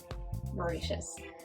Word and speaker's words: Mauritius: Chili sauces are very popular in Mauritius.